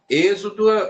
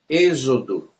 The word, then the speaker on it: Êxodo: zer né Por exemplo nós temos a palavra Êxodo ali Êxodo é com é com um x só que ele tem uma função ali cuja sua pronúncia é como se fosse um z Êxodo tá eh também temos